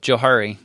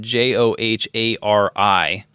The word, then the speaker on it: Johari: It is actually Joe. Is it? Want to know why? Well, I know why because the two names that are tied to it, but I pronounced it Johari. and Harry invented it. Yeah. The guys who invented this matrix, their names were Joe and Harry.